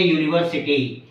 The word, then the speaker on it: university: words for example a university here University is a word which begin with over letter U but it gives the pronunciation of yah so yah is the consonant pronunciation that is why here